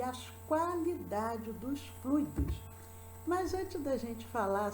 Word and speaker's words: fluido: Então, maus fluidos, bons fluidos, fluidos para freios, fluidos do corpo, mecânica dos fluidos. Então, é uma sílaba tônica, ela é um substantivo formado pelo ditongo ui, fluido, fluido. São duas sílabas, fluido.